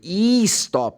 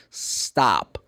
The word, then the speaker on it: stop: No I am just emphasize the beginning because normally Brazilian people really put one more syllable as I said before they say e stop. No, it's stop.